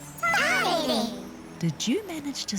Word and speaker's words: Tārere: Tarere. What's the first letter of the word? Tārere. Tarere. T. Tino pai. There. Now try sounding out the word Tārere. Ta. Re.